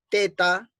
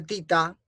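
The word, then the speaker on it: theta: siguiente vamos a sumar el ángulo teta que parece que se pronuncia tita es positivo más este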